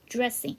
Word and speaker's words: dressing: 그 다음에 드레싱 할 때 DR 사운드잖아요. 그래서 드레싱 하지 마시고 주얼 발음 dressing.